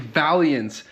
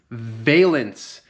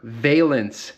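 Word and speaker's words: valance: I have been saying this whole video, I've been saying Valiance. It's called Valence. The rear bumper valence, not Valiance, valence. So my mistake.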